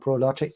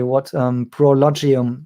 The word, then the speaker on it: ProLogium: And as far as I know, NIO has this partnership with this company in Taiwan called Prologic. And no, I may have pronounced it wrongly. Prologium, exactly, that's it.